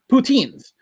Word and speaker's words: poutine: of routine you know what also rhymes rhymes with the routine poutines so think about it